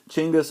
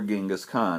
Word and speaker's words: Genghis Khan: all this started and it's uh chingus or Genghis Khan as you can see like a lot of things that we've talked about this year you can see the name spelled in a couple of different ways and you can also hear it pronounced in different ways